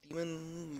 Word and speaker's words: daemon: Is it daemon or demon? I mean, it's pronounced demon, but whatever.